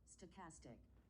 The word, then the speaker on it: stochastic: Even though my behavior can appear unpredictable due to the complexity and optional uh I sto I do not pronounce that stochastic.